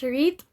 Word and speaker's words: REIT: is real estate investment trust or rets or pronounced as reit which is which is a special type of